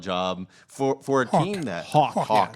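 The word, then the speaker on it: Haack: So Matt Hack has done a solid job for a team that Hawk. I keep saying Hack. It's just how it's spelled.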